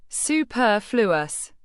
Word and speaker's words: superfluous: Superfluous. Pronounce it as superfluous. The stress is on the second syllable, p u r r.